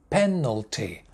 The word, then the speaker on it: penalty: where is the stress the first word penalty three syllables one two three penalty penalty the stress main stress at the beginning pen no t penalty next one corner two